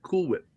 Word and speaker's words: Cool Whip: There's only one way to pronounce that. Cool whip.